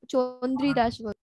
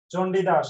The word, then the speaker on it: চণ্ডীদাস: উচ্চারণ। চন্দ্রীদাস। চণ্ডীদাস।